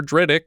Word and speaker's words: Drydock: Because it sounds like Riddick, and it's spelt like Drydock. Dr. Drydock leads a med school anatomy class, teaching his students about the human stomach.